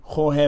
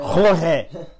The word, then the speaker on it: Jorge: Jorge Masvidal. That's how you say it. Jorge. Can't say it the English way. You gotta say it the Cuban way, the Spanish way.